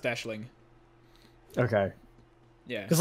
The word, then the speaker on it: Aisling: my mistake no that's um I believe it's pronounced Aisling okay yeah cuz like recent Riesling is a